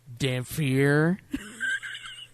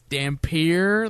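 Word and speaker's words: Dhampir: It's Dampier, but every time they say it in the movie, they say Dampier. Dampier. Dampier. No, it's Dampier. Like, there's no fucking PH in there at all.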